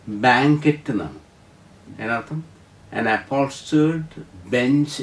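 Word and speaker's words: banquette: അതോട് ചേർന്ന് വരുന്ന അടുത്ത വാക്ക് ബി എൻ ക്യു യു ഇ ടി ടി ഇ രണ്ട് ടി ഉണ്ട് അവിടെ ടി ടി ഇ ഉച്ചാരണം ബാങ്കറ്റ് എന്നാണ് അതിനർത്ഥം ആൻ അപ്പോൾസ്റ്റേർഡ് bench along A wall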